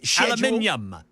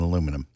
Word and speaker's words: aluminium: We don't need the extra syllables in aluminum.